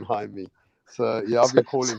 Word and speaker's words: Jaime: Hey, raps, I like to say Jamie. Yeah. Yeah, man. Unfortunately, when I see the J, I call him Jamie. You know what I'm saying? I'm not used to saying Jaime.